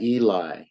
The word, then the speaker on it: Eli: We pronounce that Eli.